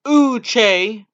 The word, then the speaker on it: Uche: Uche, pronounced Uche, did not start any games for the Wolverines in his first 3 years with the team.